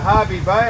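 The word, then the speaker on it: Hervey Bay: urangan which is a harvey Bay I spelled h e r v y I don't know why don't call it hervey but it's Harvey Bay probably rhymes with scurvy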